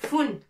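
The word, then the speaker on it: فٌ: Et là, tanwin, deux dhamma. Fun, avec nocta bien sûr, avec un point dessus. Fa, fou, fi, fun. Avec tanwin, tontako al-fa, fun. On prononce il y a 2 dma, ça s'appelle tanwin. Alors, on va la prononcer foun.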